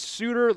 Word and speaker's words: Sudter: I hit up my boy over at on three and uh he let me know it was Sudter. like suit or you know what I'm saying there.